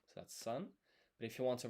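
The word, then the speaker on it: さん: San Sorry, I'm I'm skipping ahead. So, three in Japanese is san. To write this in hiragana, sa would be this. And then this is n, so that's san.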